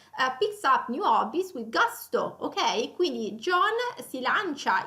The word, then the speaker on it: gusto: E con una pronuncia appunto più inglese, quindi gasto, gusto, ecco la pronuncia italiana.